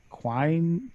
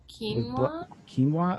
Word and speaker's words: quinoa: Starbucks they said Starbucks chicken and Quine I know protein Bowl quinoa okay there you go that's me